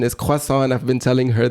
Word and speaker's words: croissant: cant and I will pronounce it like Tasha pronounce it cant cuz she's from America and she pronounces it this wayas she's gonna kill me uh oh the real pronunciation is quasa and I've been telling her this since I